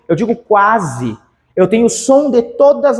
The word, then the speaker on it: quase: pronuncio o o u eu pronuncio o qu o u o a o s e o e eu pronuncio tudo eu digo quase eu tenho som de